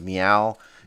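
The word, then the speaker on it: Meaww: a company called i'm going to pronounce it as meow it's m-e-a-w-w which runs a sleazy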